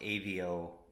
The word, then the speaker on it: Aveo: cool long-awaited delivery from I believe it's pronounced a vo engineering the that company